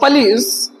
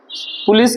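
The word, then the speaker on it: police: द पुलिस are trying to get eight. पुलिस क्या कर रही है? देखो मैंने हिंदी में बोला पुलिस बोला हूं। बट in English this word is pronounced पिश। पलिस पलिस।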